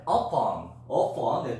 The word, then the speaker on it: often: 그 다음에 upon, T 발음하지 않아.